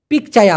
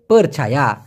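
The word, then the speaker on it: percaya: আসসালামু আলাইকুম ভাই, পিকচায়া অর্থ কি? মূলত পিকচায়া না, এটার সঠিক বানানটা হচ্ছে পারছায়া।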